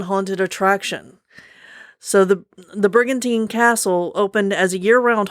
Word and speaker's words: Brigantine: is by jonna michael at cat country 107.3 bricatine new jersey brigantine yeah brigantine new jersey really should like listen